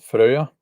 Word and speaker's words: Freya: To continue doing that, I have a topic that I want to discuss about Freya. The Americans say Freya. Freya, they say.